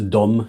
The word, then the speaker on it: Dom: So it's a Dom, not Tom, just to be clear.